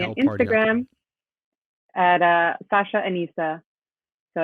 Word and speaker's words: Anesa: Instagram at Sasha Anesa. So it's SASHAANESA. Boom. Boom. Sasha Yes. Anesa. Yes. With no accent on the S's or anything.